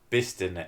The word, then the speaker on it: Bicester: You will be telling me Bicester is pronounced Bister.